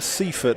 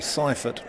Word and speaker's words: Seifert: We've been calling him Seifert, haven't we? And he's actually Seifert.